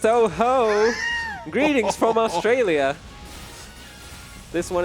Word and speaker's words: Touhou: Actually, it's pronounced Touhou.